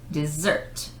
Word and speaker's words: dessert: Dessert, 2S, and it's a sound of Z. Emphasis on the last syllable. Dessert.